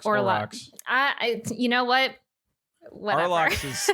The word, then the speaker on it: Olrox: Yeah, so I axed her, and husbando is Arlox. Olrox. Olrox.